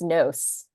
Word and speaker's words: Gnos: Leo and I don't know if you pronounce it as Gnos or Nos, Oh, the in my company. head, it's Nos.